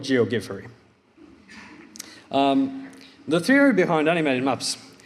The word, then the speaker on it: Geogiffery: people quite a lot how to pronounce GOG furry that's how I promise it a finger would pronounce it Jo get ferry also heard a version G of G furry but I'll go with geogi furry the theory behind animated